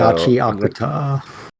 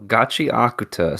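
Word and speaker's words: Gachiakuta: evening here, and I already forgot how to pronounce it appropriately. So Gachi Akuta. There you go, Gachi Akuta.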